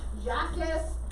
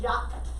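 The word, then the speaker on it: Jacques: so just how it looks based on english pronunciation jackass cartier but how you say it correctly like jack it's it's it's jet it's jack in french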